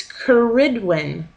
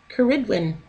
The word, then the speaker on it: Cerridwen: to the welt oh it's kerydin kerydin I'm glad I know how to say it correctly now to the welsh couid